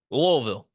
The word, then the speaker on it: Louisville: did I get that lville lville it's like a it's like a in the throat type of deal well we're going back